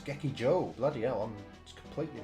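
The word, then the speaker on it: 劇場: Gekiba. Gekiba. Did I say that right before? I might have said it wrong. Anyway, it's Gekiba, which is... oh, wait. Oh, no, it's not. It's Gekijo.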